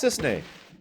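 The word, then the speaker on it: Cissnei: you're a Turk too I'm Sis Sis that's how you pronounce it I'm Zach pleasure to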